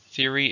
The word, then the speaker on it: theory: number eight is theory theory is an idea you have that has some evidence it's a comfortable now how many syllables are in theory to stress in the first theory he has an